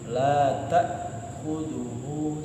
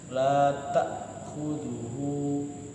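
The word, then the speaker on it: لا تأخذه: Jadi la ta, nah seperti itu, nggak boleh ditekan. La ta'khudhuhu, salah. Dia harusnya la ta'khudhuhu.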